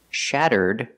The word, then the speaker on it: shattered: If I change the verb to past, shattered, you hear it, You hear a D sound at the end. D-d-d-d. Shattered.